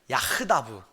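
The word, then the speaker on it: יחדו: 근데 여기서 이 함께라는 말이 히브리어로 뭐냐 하면 야흐다브라고 발음해요.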